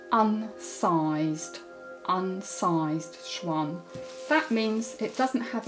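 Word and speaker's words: xuan: paper comes in a roll and is called Schwan that's spelled x u a n but we pronounce prounce it Schwan in this country we usually call it rice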